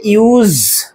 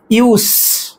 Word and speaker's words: use: তাহলে ইউএসই এটার উচ্চারণ হচ্ছে ইউজ। ওকে? জ বা জেড সাউন্ড আসছে। অন্যদিকে সেই একই স্পেলিং যদি নাউন হিসেবে ব্যবহার করি আমরা তখন কিন্তু এস সাউন্ড আসবে। ইউস।